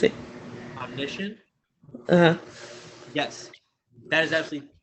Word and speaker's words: omniscient: type of third person um and then like ominous what how you pronounce it omniscient yes that is absolutely right that is absolutely